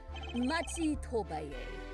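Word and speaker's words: Machi Tobaye: Machi Tobay.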